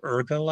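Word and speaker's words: Urgell: um the um the bishop of Urkel I think it's pronounced u-r-g-e-l-l um and that goes back to Medieval Times when the um the king of France and the bishop of ergle split the country and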